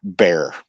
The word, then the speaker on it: Bier: But anyways, um, so her name is Teresa Anne Bearer and I believe I'm pronouncing her name right. B I E R is pronounced Bear in this situation, correct?